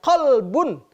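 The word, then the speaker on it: قلب: Ada juga orang yang membaca Qalbun, hati, pakai qaf. Tapi ada yang membacanya Kalbun, artinya menjadi anjing.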